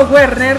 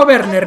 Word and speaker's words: Werner: minuto 24 por cierto yo le digo werner como se pronunciaría no sé en español pero realmente en alemán es verde como si tuviera un ave no una w pero bueno ya le